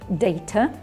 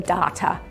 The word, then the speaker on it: data: these is the data in british english we would say data in american english the pronunciation changes a bit they say the data so it's good to